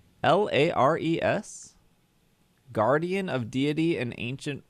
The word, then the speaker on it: Lares: lars is it spelled l-a-r-e-s guardian of deity and ancient roman religion never heard of that in my life this is just a person lares that's how they say it on wikipedia leires oh they're like minor